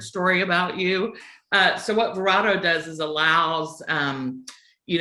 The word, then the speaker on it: Verato: who is vereto please sure it's verado oh i apologize for watching no worries at all no worries at all everybody it's pronounced every you know for every human there's a different pronunciation of it but it is verado and um so verado